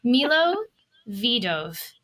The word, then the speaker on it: Milovidov: I said your name wrong. We're going to have to do it again. Now there's too much stress. Milovidov. There we go.